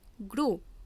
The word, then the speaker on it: gros: অর্থাৎ ফ্রেঞ্চ ভাষার ক্ষেত্রে সেই সমস্ত শব্দগুলি সম্পূর্ণ উচ্চারণ হয় না যদি কোনো শব্দের শেষে কনসোনেন্ট থাকে। যেমন GROS এর উচ্চারণ হবে গ্রো।